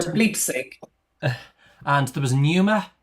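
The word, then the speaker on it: pneuma: And for bleep and there was numer p n eu m a so another silent letter word.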